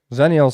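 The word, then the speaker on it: Xennials: Zennials spelled with an X. X-E-N-N. Well, there you go. Then it's like xylophone.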